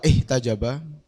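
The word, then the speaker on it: واحتجب: kibriyai kelawan pira-pira keagungan wah tajaba. Ini aslinya bacanya tajaba karena hamzanya itu bisa disebut dengan hamzah wasol.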